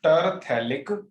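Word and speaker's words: terephthalic: इसका नाम है टर पी साइलेंट थैलिक एसिड, इसे बोलते हैं टर थैलिक एसिड।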